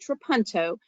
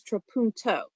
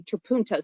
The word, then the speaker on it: trapunto: correctly it actually is trapunto or actually trapunto so you're saying that second syllable a little differently and i'm going to